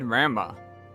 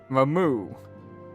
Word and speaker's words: Ramuh: I always said Ramba. Ramuh.